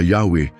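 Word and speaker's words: Yahweh: ng Diyos na kilala bilang white B at binibigkas na yahwe ay naglalaman ng malalim na makahulang mensahe sa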